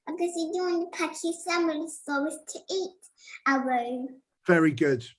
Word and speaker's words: Pachycephalosaurus: This was where I think it was the Pachyosaurus. I'm not sure if I'm pronouncing that right. It's Pachycephalosaurus.